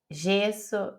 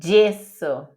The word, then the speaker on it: gesso: então d e di como que a gente iia em português gesso gesare jorno em italiano é gesso gesare giorno teme igual DJ DJ